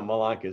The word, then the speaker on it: Malanka: Well, my last name is Malanka, and people go Malanka. I'm like, no, Malanka.